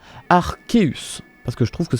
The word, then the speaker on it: Arceus: vois sous mes yeux la version japonaise il est bien écrit qu'elle se prononce à luz et us à l'océan arseus et c'est un seul sait pas que c'est bien ce problème donc on devrait l'appeler arseus et met à en